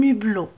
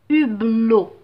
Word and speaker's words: hublot: maintenant à des monts où la lettre achetez aspirer à un hublot un hublot donc pas de liaison je vais pas dire un hublot non c'est faux un hublot un hibou un hibou